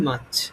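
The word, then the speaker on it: March: এটা উচ্চারণ হবে মার্চ।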